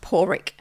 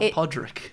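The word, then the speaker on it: Pádraic: do some correction here oh really it's actually pronounced poric poric oh it is poric yes yes not Podrick it's it's pronounced poric pck rules where are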